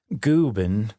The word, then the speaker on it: Gooben: Gooben, rhymes with Reuben, is actually Swedish for old man, but kind of like you'd call a little kid big guy.